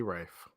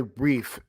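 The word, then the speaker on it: Reiff: hindsight different from what if you have riley rife right i i'm apparently being taken back riley brief i i've been i've been contacted that i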